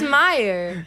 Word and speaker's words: Mayer: It's Meyer.